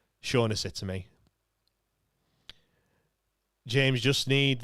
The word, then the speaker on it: Shaughnessy: Hugh says it's pronounced Shaughnessy to me.